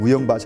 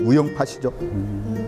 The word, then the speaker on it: 우영팥: 요새 젊은 사람은 발음 못하니까 우영밭인데 원래 제주도 방은 우영밭이 아닙니다. 우영팥이죠. 선생님이 제주도니까 우영팥 아니에요? 그래서 이게 우영이라고 하는 말이 붙으면 팥으로 바뀌어요.